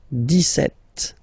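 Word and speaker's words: dix-sept: clear but then for the pronunciation deset okay so you don't not insist on the S deset deset deset okay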